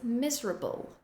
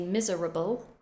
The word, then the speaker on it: miserable: The next word is miserable. We don't say miserable, we condense it.